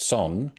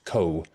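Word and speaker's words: Сон: project, which is pronounced Son, but in fact, if you've seen it written down, you might have thought that it was Co, because it looks like a COH, but it's actually in Cyrillic, being Russian, in fact.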